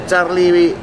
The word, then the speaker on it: Charly: Walau dalam ejaan tulisan itu ada I yang satu Y, namun dalam artikulasi dan cara membacanya tetap Muhammad Charlie Panhoten.